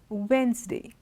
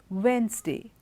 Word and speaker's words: Wednesday: that B is silent it's Wednesday there's no D the D is not stressed Wednesday handsome it's not handsome sand sandwich not sandwich okay sandwich Wednesday handsome handkerchief in all